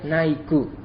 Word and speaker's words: Nike: Pero, por ejemplo, la marca de zapatillas Nike, nosotros lo pronunciamos Nike con la K al final y para nosotros es habitual, pero en japonés se diría Naiku.